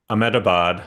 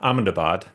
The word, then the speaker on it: Ahmedabad: Um I was in January in Ahmedabad. Ammedabad. Sorry for my pronunciation any any Indians who might be watching. Amundabad I think it's pronounced.